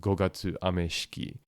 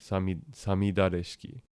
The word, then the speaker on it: 五月雨式: see this word would would probably try and pronounce it gatuki, but that but that's not in fact how it's pronounced. It's it is again sami sami dareski.